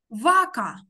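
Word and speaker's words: vaca: Це, дивись, це літерка С, яка перед А читається як К. Веца. Вака.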